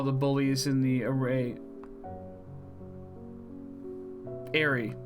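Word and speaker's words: Aerie: Airy. That's how it's pronounced.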